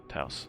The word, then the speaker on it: Taos: nondescript black car, a brand new 2022 Volkswagen Taos? I don't know how you pronounce car names anyways. Taos, yes.